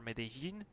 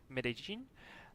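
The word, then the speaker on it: Medellín: quicker to fly to Medellin, or Medellin, how they pronounce it in Colombia. It's like with the J, Medellin. A little bit weird, but that's how they do it, so I'm just trying to pronounce it correctly.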